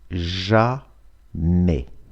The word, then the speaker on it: jamais: Никогда на французском это jamais. Jamais. S не читается.